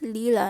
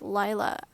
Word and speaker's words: Lila: I love that so much We've got- apparently it's pronounced "Lee-la" instead of "Lai-la" I've just been pronouncing